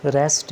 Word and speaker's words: receipt: तो रिसीट में जो पी है वो साइलेंट हो जाता है, तो ये आपने घबराने में, कुछ वर्ड्स हैं वो साइलेंट हो जाते हैं।